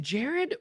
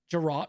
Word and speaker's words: Gerard: Well, is it Jared or I don't want to mispronounce it? Gerard.